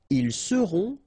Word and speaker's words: ils seront: the end, et serez, ils seront, final T not pronounced, elles seront.